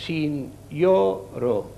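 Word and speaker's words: sinjoro: Signoro, aquí veiem aquesta lletra també, aquesta J, que en esperanto es pronuncia com una I, i també es pronuncia com una I, però fa diftong amb la vocal que té acompanyada. Per tant, és signoro.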